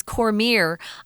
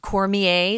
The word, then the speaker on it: Cormier: Tom and I were talking about how to pronounce his name but we looked we looked it up online he says Cormier I would have said Cormier it's kind of a French name there but